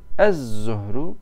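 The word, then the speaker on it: الظهر: Zuhrun, ez zuhru. Madem lam okunmuyor, o zaman baştaki zuhr kelimesinin zası çift yapılır.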